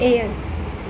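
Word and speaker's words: heir: करते हैं आप इसको मैं पहले यर पढ़ती थी ठीक है बाद में आई come to know it's नॉट हियर इट्स एयर इसमें जो है इसको एयर प्रोनाउंस करते हैं इसमें एच साइलेंट है ठीक है सो या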